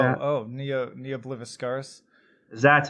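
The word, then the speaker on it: Ne Obliviscaris: I can't even pronounce their name. Neo Discaris or something like that. Oh, Neo Bliviscaris.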